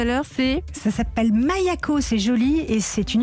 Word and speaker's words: Maïa-Ko: Vous avez 36 ans, donc vous avez fondé Maya-Co, ça se prononce comme ça? C'est ça, Mayako.